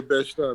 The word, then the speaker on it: Bed-Stuy: Bed-Stuy, is that how you say it? Yeah, Bed-Stuy, no doubt.